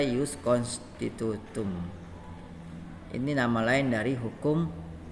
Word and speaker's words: Ius constitutum: itu Ius constitutum ya kita baca use constitutum ini Nama lain dari